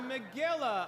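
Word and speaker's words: Megillah: brown though it is starts with a mem it rhymes with Gorilla the Milla a Milla is a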